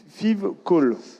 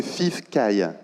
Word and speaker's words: FIVCAI: concertation sur votre projet que j'ai mal prononcé, donc FIVCAL. Toujours pas, mais c'est Alors, pas grave. je vous laisse le prononcer à ma place. C'est FIVCAI.